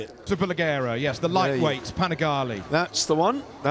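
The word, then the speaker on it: Superleggera: Super Leggera, yes, the lightweight Panigale.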